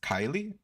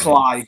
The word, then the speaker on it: Cly: Now it's Kylie. I don't know how to say It's Cly. Cly. Cly. Okay, Cly. Another bandit.